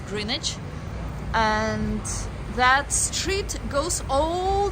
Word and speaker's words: Greenwich: The W is not pronounced, so it's not Greenwich, but it's Greenwich.